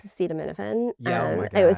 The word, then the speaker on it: acetaminophen: the cherry on top was Trump trying to pronounce acetaminophen. Oh my God. It was something like acetaminophen. Well, let's see how we say that. Acetaminophen. Right. Like I kept thinking, like, is he pronouncing it ass-head-of-men?